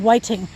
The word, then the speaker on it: Whiting: that cemetery is in whiting vermont it's spelled just like it sounds kept w-h-i-t-i-n-g and yes google maps